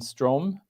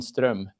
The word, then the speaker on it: Ström: um I mean um English speakers would pronounce it Strom but if you happen to speak Swedish it would be strum which is somewhat different let me try strum yeah something like that